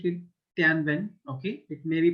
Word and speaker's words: Tianwen: Okay, now I'm pronouncing it Tianwen.